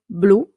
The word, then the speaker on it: blu: Blue, for example, blu in Italian is always blue. It never changes. Okay, perfect. Blu. Here it's all a matter of pronunciation. Blue, Italian, blu.